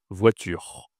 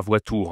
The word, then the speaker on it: voiture: Attention, on dit u. Ici, ce n'est pas un ou. Donc le tur, ça se dit comme ça. Tur voiture et pas voour hein, voiture.